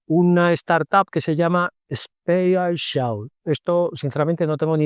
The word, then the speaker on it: SpAItial: Es la palabra spatial, es decir, espacial, pero metiendo AI, metiendo las siglas de Artificial Intelligence en el medio. Es decir, SPAITIAL, Spatial.